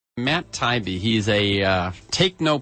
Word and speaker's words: Taibbi: Welcome, Matt Tybe. How's it going? Very well. I like listeners to get a feel. By the way, am I pronouncing your name correctly? Yeah. Yeah. Taibbe.